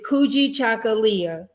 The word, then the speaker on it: Kujichagulia: race and today is day two it's kuji chocolatia you want to say it with me coogie chocolate okay i'm not the